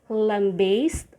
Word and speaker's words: lambaste: niche cash and lastly you can either say lambaste or lambast lambaste lambast which means to assault violently